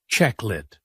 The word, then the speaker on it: chocolate: Many people say all the letters chocolate, but in English we say checklet.